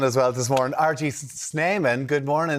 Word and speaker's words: Snyman: He's telling it's Snyman.